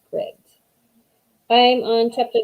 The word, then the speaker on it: Scribd: I think we figured out that I've been saying it wrong. I think it is Scribd.